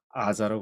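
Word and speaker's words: עזה: 있잖아요 전쟁이 있는데는 가자라 그러는데 히브리어는 뭐라 할까요 아자라 그럽니다 아자 근데 가자라는 발음 어디서 나오느냐 아랍어에서 구분이 돼요 아랍에서는 아인이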